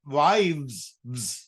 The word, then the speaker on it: wives: ඒ වගේම අපි මේක pronunciation එකට දැන් බලන්න knife, knives, wife, wife කියනකොට අපි හැබැයි wives එතකොට අපි strong sound එකක් add කරනවා pronunciation.